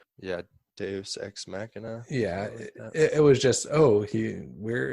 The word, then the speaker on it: deus ex machina: Deus ex machina. Yeah, Deus ex machina.